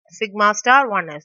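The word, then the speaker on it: σ*1s: So we can just pronounce it as sigma star 1s.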